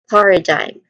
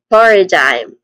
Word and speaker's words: paradigm: When we try to say this, we get paradigm. Sorry for that. Paradigm again. Paradigm. The stressed syllable is the first syllable. Par. Paradigm.